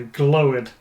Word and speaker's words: glowered: because it rhymes with flowered?